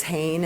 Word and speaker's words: Hayne: share with you that my last name is Hayne and I always tell over when it rhymes with rain but because of the way it's spelled I'm always hen everywhere I go I'm very pleased to